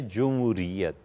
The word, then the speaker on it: جمہوریت: یہ اصل میں لفظ ہے جمہوریت. جمہوریت جیم پر پیش ہے. جمہور کی رائے یہ ہے. جمہور علماء اس بات پر متفق ہیں، لیکن یہ تلفظ ذرا مشکل ہے. جمہور تلفظ مشکل ہے نا، اس لیے لوگوں نے جیم پر زبر.